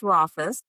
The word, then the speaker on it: Rauchfuss: All right, it is pronounced Rafus. When I do any of my speaking for introductions, I always say rhymes with office.